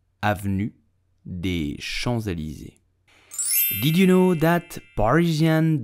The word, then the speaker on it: Avenue des Champs-Élysées: So, how do you pronounce it? You will say Avenue des Champs-Élysées. Avenue des Champs-Élysées. Avenue des Champs-Élysées.